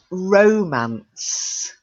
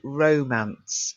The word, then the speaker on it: romance: Romance. It's the feast of love and romance. So you've got a long O, romance.